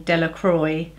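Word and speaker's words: Delacroix: Jones and Dicky dear the villagers pronounced this name Delroy eventually made a great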